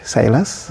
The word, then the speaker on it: Silas: My names are what you rightly pronounced silas or you can call me one.